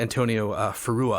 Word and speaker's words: Antonio Ferrua: A guy by the name of Antonio Ferrua, I think you say his name.